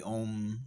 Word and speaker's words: Ogham: If you break down one of the oldest alphabets in the world, the Om or the Ogham alphabet, depending on at what period in time you're pronouncing it, the Om alphabet, I say Om alphabet because you get the play on words, right?